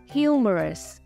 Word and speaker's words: humorous: khác nhá Number One humorous trọng âm rơi vào âm tiết thứ nhất tremendous trọng âm ra